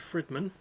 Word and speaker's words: Fridmann: It wasn't done by anyone from the band, it was done by someone called Dave Fridman. Might be pronounced Friedman, but it's spelled Fridmann.